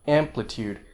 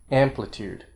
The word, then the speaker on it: amplitude: or secondary stress like amplitude the amp is the main stress the uh is a long vowel so it gets a stress too but a second level stress amplitude amplitude and the it in